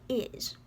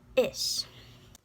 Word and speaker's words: is: Well, first of all, this looks like is. But don't say it like that, because there's no such thing as a Z sound in Irish. It's is.